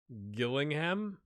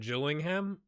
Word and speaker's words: Gillingham: I'm gonna butcher these Gillingham not chilling him maybe let's look at